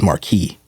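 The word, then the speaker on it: marquis: Fair U but also obviously they pronounce it in Francis Marquee yeah right so that's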